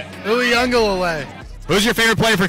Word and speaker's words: Uiagelelei: Uiagelelei. Who's your favorite player for Clemson? DJ! How do you pronounce his last name? Uiagelelei.